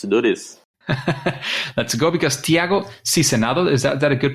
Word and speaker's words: Tiago Sizenando: Let's go, because Tiago Sizenando, is that a good pronunciation?